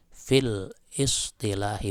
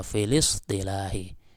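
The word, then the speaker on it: في الاصطلاح: Jadi cara bacanya bukan gini, min khilali ta'rifi siyami fil istilahi, bukan, tapi filis ya, filis istilahi ya, diwasalkan karena hamzahnya ini hamzah wasal sehingga tidak terbaca ketika di tengah kalimat ya.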